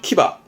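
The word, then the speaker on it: 騎馬: 발음은 키바.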